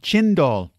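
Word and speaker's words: cendol: read about something called um I think it's pronounced sendall c n d o l are you familiar with this chind doall okay what can you tell me about this so chindo is like Shave Ice uh the key ingredient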